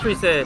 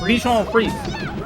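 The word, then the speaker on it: Bichon Frise: I don't think it's free set. How do you say it? It's Bichon Freeze.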